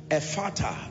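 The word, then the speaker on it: Ephphatha: together amen so let's look at tonight's teaching efata the ministry the mystery of open doors a father is spelled e-p-h-p-h-a-th-a e p h p h the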